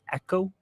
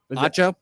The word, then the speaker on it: Acho: They're going with Emmanuel Echo. Acho, Acho, that's how you pronounce he's it.